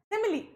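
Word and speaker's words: simile: है सिमली ठीक है काफी बच्चों जो है गलत प्रोनाउंस करते हैं इसके प्रनंसीएशन क्या रहेगी सिमली ठीक है अब सिमली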